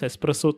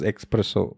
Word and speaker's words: espresso: so I saw this espresso thing and I didn't even know how to pronounce it so back then I thought it was expressive in fact I also thought it what it was expresso B and depending are